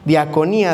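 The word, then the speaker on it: διακονία: Otro que aparece ahí, ministerio, el término es diaconía con K, diaconía, acento en la I.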